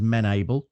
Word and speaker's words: Menable: So the correct pronunciation is menable.